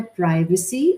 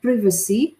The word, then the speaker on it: privacy: کے پاس، same spelling but accent is different, تلفظ is different, pronunciation is different. آپ کہتی ہیں ایک کہہ رہا ہے پرائیویسی اور ایک کہہ رہا ہے پریویسی، بوتھ آر فائن۔ تو ایک کسی زبان میں